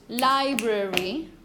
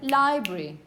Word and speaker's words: library: You could say it with 3 syllables, library. Some people just say library. 2 syllables. Because, you know, schwa is so poor and so weak that sometimes it's just omitted. So, either library, 3 syllables, or library.